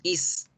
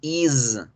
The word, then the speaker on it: is: El verbo to be is, no lo decimos is, lo pronunciamos is, is.